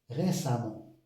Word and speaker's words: récemment: exemple évidemment évident évidemment même si on a E on prononce a récemment récemment récemment récemment récent l'adjectif c'est récent récente.